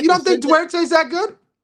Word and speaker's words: Duarte: Duarte. I'm going to say Durate because that's just how I talk. You got me saying that, Duarte.